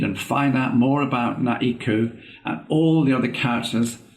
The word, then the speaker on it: Naeku: So I created Naeku, pronounced Na-E-Ku.